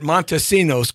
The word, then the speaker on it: Montesinos: Monta see ya Montesinos Montesinos okay it's very simple four syllables Montesinos okay I'm gonna get this right if this is the whole show today Jessi torero trying to get Montesinos because I wasn't trying